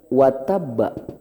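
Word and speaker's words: وَتَبَّ: lahabiw biar Pak kalimat wattab fokus menguat Ayo kita berhenti di pada huruf ba' wattab di akhir plus ada tanda tasjid ini namanya Qalqalah besar cara bacanya ditahan dulu baru dipantulkan kandachi ada Abi lahabiw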